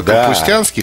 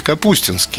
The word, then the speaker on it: Капустинский: Потому что позвучало капустянский, хотя правильно говорить капустинский.